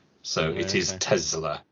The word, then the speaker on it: Tesla: with the Zed not Tesla with the S just clearing that up because that is how it's pronounced in the original Serbian so it is Tesla not Tesla definitely because it's named